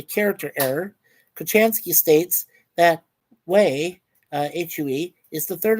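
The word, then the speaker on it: Huế: She also mispronounces uh she pronounces it as Hua or Hua rather than we which is the way it's supposed to be. Uh despite making a point that it is pronounced differently to how it is spelled, right?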